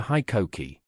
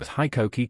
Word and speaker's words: HiKOKI: The pronunciation of HiKOKI quickly became a point of emphasis for the new brand. The company made it clear that the I should be pronounced like high, and Koki like kokey.